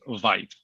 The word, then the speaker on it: Vieth: And just one last thing, the last name is pronounced Vieth. Long I, not so, but thank you.